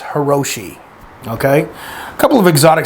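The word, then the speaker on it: Hirajoshi: Now, the pronunciation of this is still up for debate, but I refer to it as Hiroshi.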